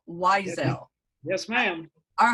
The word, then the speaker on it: Whysel: come up and that's steve weiselle and the last name is spelled w h y s e l weizel yes ma'am all right